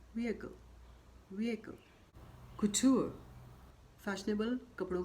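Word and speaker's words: couture: कुटूर, fashionable कपड़ों का निर्माण, कुटूर, कुटूर।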